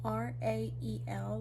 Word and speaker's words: Rael: tampons and things, but it's spelled R-A-E-L, like it's Rael, like it just looks like real but with the letters switched.